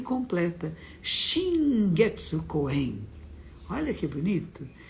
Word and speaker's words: Coen: E se lê Ko-en, porque as palavras em japonês não têm sílaba tônica. As duas sílabas têm a mesma tonicidade. E algumas pessoas falam Koen, Koen. Não, é Ko-en.